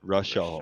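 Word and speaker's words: Rishaal: Rashal. Rashal. R-A. Okay. It's R-I. It's R-I-S-H-A-A-L. I typed it just above if you look in Discord.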